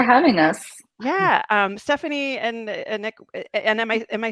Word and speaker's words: Annyck: Yeah, Stefanie and Annyck, and am I saying it wrong? You can say Annyck, but Annyck. it's just because it's like French and English.